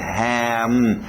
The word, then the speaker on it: ham: Então, com E exagerado, temos então ham. Fecha bem esse M no final também, ham. Não é igual ao português, faria ham, esse M iria embora, ok? Nós queremos parar, M's, L's, N's, igual o gaúcho fala, né? O normal a gente no Brasil diria go e o L iria embora. Mas nós queremos igual o gaúcho para o inglês, goal, para nesse L, ham, para nesse M, ok?